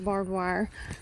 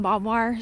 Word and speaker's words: barbed wire: the barbed wire um I call it bob wire say y'all have to excuse me I even spell it Bob wire cuz I don't know why do you know that it's barbed wire I also have